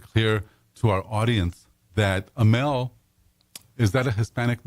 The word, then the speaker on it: Amell: to our audience that Amel, is that a Hispanic name? It actually is. I mean, it's from Catalonia. Ooh, that sounds like Spanish. Yes. So it's Catalan. It's pronounced Ameye.